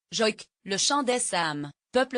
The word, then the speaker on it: joïk: peu à la manière du joïk prononcé, joïk, le chant des Sam, peuple autochtone de l'Arctique continental que l'on appelait autrefois les Lapons.